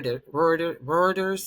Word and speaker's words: Reuters: I think I even saw Ro Reuters. Is that how you pronounce it?